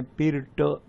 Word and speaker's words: Pirc: ये बार बार मैं लोगों को कहता हूँ कि पिरट डिफेंस का स्पेलिंग है PIRC, लेकिन उसका प्रोनाउंसिएशन है पिरट, पिरक नहीं, पिरट।